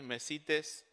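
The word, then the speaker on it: μεσίτης: En el griego es mesites. La otra vez pronuncié mal una palabra, ¿está bien? Mauri, mesites.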